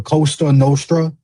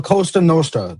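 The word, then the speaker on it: Cosa Nostra: Don't be disrespecting my my Italian my my fellow Italians like that saying the Costa Nostra. It's La Costa Nostra. That's how you say it, jackass.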